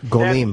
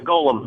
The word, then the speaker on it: Golem: o l m so how would you pronounce that um golim that's Golem golum yeah Golem Golem is the name did he like